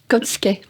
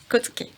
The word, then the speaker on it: Côté: Comment ça se prononce? Côté. Côté, d'accord. Donc Aline, vous allez donc nous raconter l'itinéraire d'un enfant placé dans ce foyer à Neauphle-le-Château, dans les Yvelines.